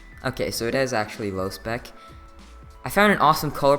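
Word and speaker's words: Lospec: Well, how do you pronounce low spec? Okay, so it is actually low spec.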